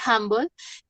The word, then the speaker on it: humble: Que comienzan, que tienen, por ejemplo, este humble, no se me ocurre otro ejemplo. En general, esas palabras que tienen así H-U se pronuncia como si fuera una A, pero eso es confuso porque eso es de práctica.